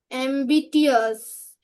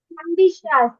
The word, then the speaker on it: ambitious: Ambitious. Ambitious, baby. When it is TIOUS, TI টা উচ্চারণ শ এর মতো হবে।